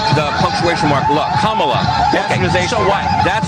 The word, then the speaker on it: Kamala: And until Sunday, adios mofos and such make a joke about the fact that people have mispronounced Kamla as Camela the Ugandan head hunter brought to you by the wizards.